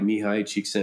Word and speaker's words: Mihai Csikszentmihalyi: You guys have heard the concept of flow by Mihai Csikszentmihalyi. Of course, yeah, I love it. Good job on the pronunciation.